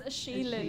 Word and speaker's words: Shaylin: I also mispronounced your name the first time, Shannon. Shannon. It's Shaylin, actually.